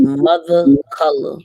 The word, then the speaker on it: Mvtha Cvla: All right, so it's gonna be Mvtha Cvla, okay, but it's spelled with, like you said, Roman numeral, replacing the O.